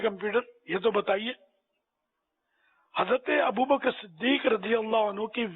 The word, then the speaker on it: ابو بکر: اچھا یہ عام طور پر ایک غلط تلفظ بولا جاتا ہے, یہاں ابو بکر بولتے ہیں, ابو بکر نہیں ہے, کاف ساکن ہے. ابو بکر, ابو بکر صدیق, ابو بکر صدیق بولیں گے تو غلط ہو جاتا ہے, اور یہ 99.9